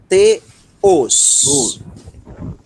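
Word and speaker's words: θεός: Só tenham cuidado com a sílaba tônica. Vamos lá, enfatizando a sílaba tônica. Deus. Isso. Teos. Teos. Tá? Teos. A sílaba tônica é a segunda, tá?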